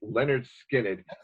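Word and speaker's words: Lynyrd Skynyrd: And the first Leonard Skinner album, pronounced Leonard Skinner.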